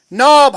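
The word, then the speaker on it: knob: नाब, हम कनाब नहीं पढ़ते हैं।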